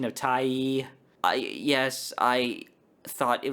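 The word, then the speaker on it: Tyee: damn uh plus these often also have a tax deductible much like like any other charity finally you can support Independent Media such as Wallace and Tai yes I had to look up the pronunciation of Tai I yes I thought it was pronounced T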